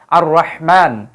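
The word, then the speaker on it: الرحمن: আলিফ লাম বসানোর কারণে এই যে র এর পূর্বে আলিফ লাম আসার কারণে কিন্তু আলিফ লামের কোন উচ্চারণ হবে না উল্টো এই হরফের উপরে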